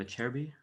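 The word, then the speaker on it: Acerbi: solid cherry that's how you say his name a cherry b yeah we gotta you gotta teach us more italian pronunciation is a ch and ch is a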